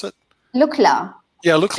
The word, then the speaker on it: Lukla: airport in the world Oh workers how you pronounce it look LA yeah look like yeah right that's where you